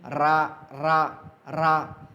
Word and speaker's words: र: हम जब रा का उच्चारण करते हैं तो हमारी जो ज़ुबान की नोक है ऊपर जा कर के ऐसे लुढ़क जाती है, यानी रा रा रा, इसलिए इसको क्या कहा, लुंठित वर्ण।